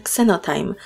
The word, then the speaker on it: Xenotime: Trio pochodzili od zwierząt ich imiona wymawiać można także jako zeolit oraz ksenotym i mają swoje szczególne